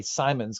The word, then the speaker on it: Simonds: I always say Simons because it's spelt more like Simons.